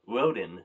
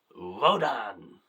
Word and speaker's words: Rodan: So, next up, Rodan or Roden as for some reason uh a couple people pronounced it in this movie, but Rodan.